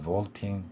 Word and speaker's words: vaulting: 마찬가지로 V 소리 앞에서 vaulting 이 발음 뛰어넘는 이러한 의미가 되겠죠. vaulting, vault라는 뛰어넘다라는 단어에 ing가 붙은 것입니다. 그래서 말을 뛰어넘는 체조라는 의미가 되겠죠. 이처럼 vault에서 볼 수 있는 것처럼 V 발음은 윗니로 아랫입술을 물고 목젖이 울리는 소리 이 특성을 갖습니다.